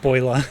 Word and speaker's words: BOILR: Oh, it's pronounced boiler.